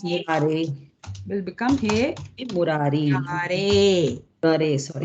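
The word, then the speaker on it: मुरारे: Murare. Sorry. Murare. The E is pronounced A. Remember that. Don't say E.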